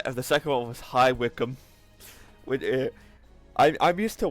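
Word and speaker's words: High Wycombe: bis bister which is spelled bice but it's pronounced bister uh and the second one was high wickum which I I'm used to wcom but it's it's highwickum feral figs [ __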